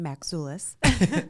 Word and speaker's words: Maczulis: just so everybody knows my last name is pronounced maxoulis oh yeah zulas but you don't yes